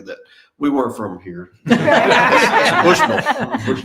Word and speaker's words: Bushnell: duty in uh in Bushnell and they they knew exactly that. We weren't from here. Bushnull. Bushnell. You got you got to imagine you're southern when you say just imagine yourself.